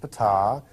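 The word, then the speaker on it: Ptaah: he got to meet Fatah that's pronounced Fattah that he's the leader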